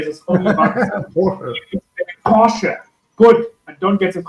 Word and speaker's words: Porsche: I hear the name Porsche. I will say this only once. Porsche.